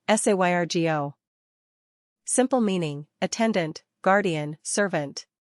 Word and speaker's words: Sergio: Pronunciation, Sergio.